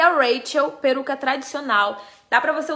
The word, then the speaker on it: Rachel: Essa é a Raquel ou Rachel? Porque tem duas, né? É Rachel. É Rachel. Essa daqui é Rachel. Se escreve Raquel com CH, tá?